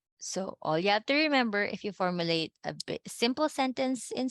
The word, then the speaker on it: yo: Yo. Yo. Yo. Yo. Yo. Yo. Okay. So see, I already can hear some people say yo. The proper way to say is yo. There's like a j.